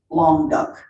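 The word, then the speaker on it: Languedoc: area that was called long duck interesting now long term it's a french word but they tell me that's how you pronounce it okay in the city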